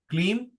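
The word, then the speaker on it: क्लीं: ही अक्लीम haem क्लीम ह नहीं बोलोगे यहां पे क्लीम बोलोगे क्लीम स्वः ठीक है जो पहला एच है वो प्रोनाउंस नहीं करना आपने ठीक है वो अंदर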